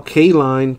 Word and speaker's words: Kaline: to 249 for the Rockies we got Al Kaline to 297 for the Tigers I was told